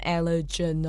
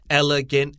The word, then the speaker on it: elegant: 事实上呢，知道一点莫兰迪色可以帮助任何人更了解什么是优雅的外观。注意 elegant 这个字哦，太多小朋友会念成什么 elegant 啊、elegant 啊之类的。哎呀。 It's elegant, just like elephant. It sounds really... When I teach this word, I always say elegant elephant.